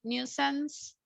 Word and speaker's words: nuisance: it's like no sense.